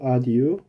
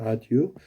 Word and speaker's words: adieu: 여행 나가면 잘 지내라고 인사하며 작별하니까 for where 여기 fair인데 여기 발음이 for where 이렇게 발음한다는 거 for where 드시고 adieu 이게 adieu 여기서 항상 eu 아까도 보면은 여기서